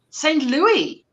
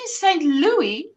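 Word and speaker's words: St. Louis: definitely not one of St Louie put s on the end but most but most St Louis put s on the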